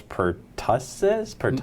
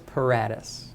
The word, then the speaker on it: Paratus: Miles Pertussis? Miles Paratus. Miles Well, Paratus. I took a shot You were at it. close. You had the first half right.